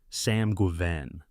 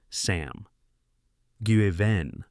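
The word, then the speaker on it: Sam Guevenne: Sam Guven. It is worth saying the name out loud. Sam Guvenven. The name sounds to a certain ear like a pronunciation of Sanguin, the drich prince whose sphere encompasses debauchery, hedonism, and drunken realry.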